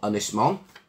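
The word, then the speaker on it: Ynys Môn: from the island of Anglesey or anisman as it's pronounced in Welsh and the damn it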